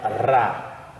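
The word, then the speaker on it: רַ: Ele tem o som de R, mas o som de R trêmulo, então é Ra, Ra.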